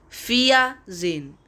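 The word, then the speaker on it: vierzehn: h n is 14 in german and its pronunciation is fia zin fia sein f u n f z e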